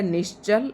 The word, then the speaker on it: निश्चल: उसके बाद है निश्चल और निशछल इसमें च है। उच्चारण अच्छे से करना है और इसमें छाता है।